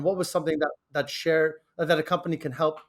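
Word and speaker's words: Cher: share yes it is yeah so it's called share and uh i named it uh not because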